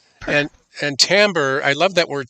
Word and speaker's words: timbre: So, same pattern, a different tambber. And and tambber, I love that word tambber. It looks like it should be pronounced timber or timbre, but it's just French for sound.